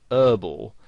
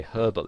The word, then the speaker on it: herbal: Now, in American English, the word herbal has the H silent, so they pronounce it herbal.